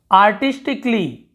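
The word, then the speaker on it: artistically: आर्टिस्टिकली, आर्टिस्टिकली, यहाँ पे कली ऐसे अली ऐसे नहीं पढ़े, ठीक।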